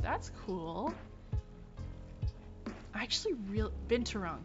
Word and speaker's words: binturong: Binturong, thank you. I knew. I feel like I was missing a syllable.